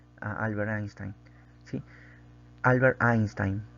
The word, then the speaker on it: Einstein: Albert Einstein. Así se pronuncia, ¿sí? La en alemán se pronuncia como A.